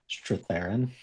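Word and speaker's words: Strathairn: Straththerin. David Stratheran's in it.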